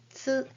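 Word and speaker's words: つ: And this is hiragana tsu, as in bats and cats. but the shape of your mouth is just like the one with hiragana u, and then say tsu.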